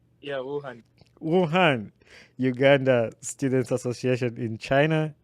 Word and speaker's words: Wuhan: Is that the right pronunciation? Yeah, Wuhan, Uganda Students Association in China, and previously served various leadership roles at the Uganda Student Association in China.